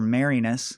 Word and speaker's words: Marinus: For letting us know that his last name's a homonym for Marinus.